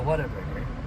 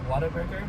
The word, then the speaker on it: Whataburger: at that moment called whataburger it's like what a burger it's like whatever and that's how it's spelled but it's one word whatever and uh it's the